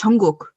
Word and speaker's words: Jungkook: Because I always say cook, and I know it's not the right pronunciation. Jungkook. I think it's Jungkook.